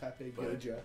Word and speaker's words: Papagoya: Is it papagoya? Yeah, you spell it Papegoja. Swedish. Papagoya.